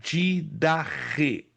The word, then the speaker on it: Didache: Se você não se lembra, a palavra doutrina, ela vem de uma palavrinha grega didache, que se escreve didache, ou didache, com CHE, que quer dizer ensino originalmente dado pelos apóstolos.